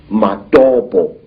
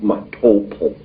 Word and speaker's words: Matopo: And one of these parts of Africa, sir, is a remarkable place called the Mountains of the Round Rocks, Matopo, wrongly pronounced Matopo, in Zimbabwe.